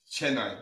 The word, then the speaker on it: Chennai: Chennai.